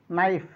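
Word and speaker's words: knife: কে silent থাকবে কখন কে এর পরে যদি এন থাকে যেমন কে এন ও সি K knock নাইফ নেক নো নলেজ নচ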